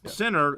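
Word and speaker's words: Sinner: pronounces his name it's like center center the one seed the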